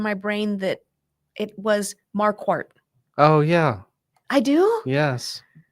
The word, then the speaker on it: Marquardt: And so that's why when I started practicing law, I told everybody it's Marquardt, like a quart of milk.